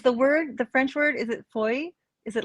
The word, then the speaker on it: feuille: It's almost like oi, like boy, feuille. Feuille. But yeah, it could be, could be a regional thing. Like feuille.